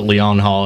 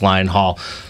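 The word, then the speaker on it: Lyon Hall: And many people do pronounce it Lion Hall until they realize it's Lion Hall.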